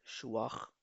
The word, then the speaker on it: schwach: Stark, Und schwach. schwach, strong, weak, कमजोर, मजबूत. Sehr gut. मजबूत, कमजोर. Schwach. इसमें खे की साउंड प्रोड्यूस की जाएगा.